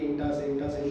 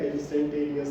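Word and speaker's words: instantaneous: कुछ लोग बताते हैं सर वो क्या थी, इंटा सेंटा स्पीड। मैंने इंटा सेंटा नहीं लिखा, इंस्टेंटेनियस थी।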